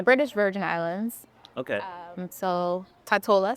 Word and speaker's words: Tortola: So Tortola specifically, or Tortola, the right way to say that.